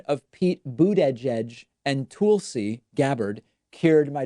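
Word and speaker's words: Buttigieg: came out and said it's very easy it's three words boot edge edge and so i've just been pronouncing it that way pete boot edge edge even though i'm not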